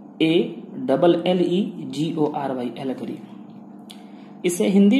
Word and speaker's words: allegory: Speech के बारे में जानेंगे, जिसका नाम है एलगरी और इसका स्पेलिंग है ALLEGORY, एलगरी।